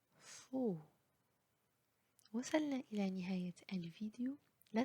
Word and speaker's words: faux: X à la fin du mot est toujours muet, il n'est jamais prononcé. Choix, époux, paix, faux.